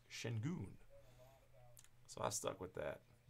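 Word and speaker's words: Şengün: the first times I did he said it's pronounced Shin goon so I stuck with that correct me if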